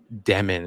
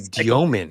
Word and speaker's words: Demin: And I think the last point that you made about Demin is really important to me, because so we said it wrong the entire. It's actually Diomin, right?